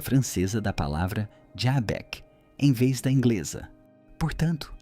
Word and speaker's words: Xebec: pronúncia francesa da palavra Jabek, em vez da inglesa. Portanto, lembre-se, não se pronuncia Chapek, mas com um J, mais suave como em francês, embora a pronúncia de Sheabok não seja muito diferente caso prefira.